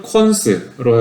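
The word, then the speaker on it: cons: 비어 있을 수도 있고, 또는 값이 비어 있을 수 있는 리스트도 리스트 타입이고, 또는 콘스로 해가지고 이걸 콘스라고 읽어요.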